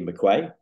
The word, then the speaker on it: McQuay: I'm delighted to be joined by McQuay did I pronounce that right the yes you did